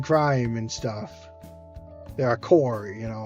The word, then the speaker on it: corps: They're a core, you know, like corpse like it's not pronounced. It's kind of pronounced as core, but it's c o r ps, you know.